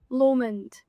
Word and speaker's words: Lomond: Of course we're going to correct your pronunciation on Scottish landmarks. Do you know that we tell Loch Lomond? Lomond.